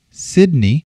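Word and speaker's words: Cydney: and my middle name sydney c-y-d-n-e-y sounds like it would be spelled with an s and an i but it is spelled with the c and a y then my last name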